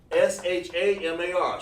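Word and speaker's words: שמר: Okay, Shamar is S-H-A-M-A-R. Shamar. It means to watch.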